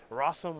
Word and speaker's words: Rosum: Against David Long playing Turbo Depths, Kazu Negri playing Jeskai Control, and then Jonathan Rosum, which rhymes with awesome, playing White-Black Aggro.